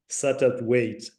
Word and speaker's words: Satterthwaite: Her name is Professor Margaret Satterthwaite. I hope I pronounced that correctly, Meg.